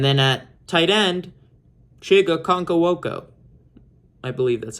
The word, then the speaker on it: Okonkwo: And then at tight end, Chiga Okonkwo.